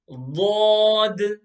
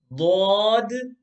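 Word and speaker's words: ضاد: Okay, so these two letters, Sod and Dod, they're both pronounced with a full mouth.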